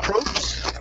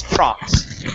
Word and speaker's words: props: to this word here the word is Pro props instead of propes it's props props okay very good